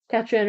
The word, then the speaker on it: Catriona: Catriona is Scots Gate. Yes, thought so. Trina is how it is often pronounced in Ireland.